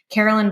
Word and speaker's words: Caroline: And probably Instagram if you want to talk triathlons, which is just Carolyn Bikes, but it's spelled like Caroline.